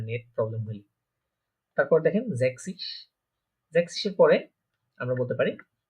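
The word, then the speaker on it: sechzig: তাহলে এখানে হবে কি জ্যাক্সিস, জ্যাক্সিস মানে কত আমার 60 বা 60।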